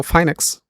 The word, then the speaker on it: FYNEX: Okay, I know it's pronounced as a FYNEX, and I'm from the Green Zone Academy.